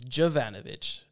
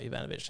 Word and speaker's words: Jovanovic: Her name is Jovanovic, not Jovanovic.